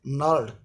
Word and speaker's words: gnarled: जी is silent in this word, this word is gnarled। जी का जो है silent है इसमें, तो gnarled कहते हैं हड्डियों की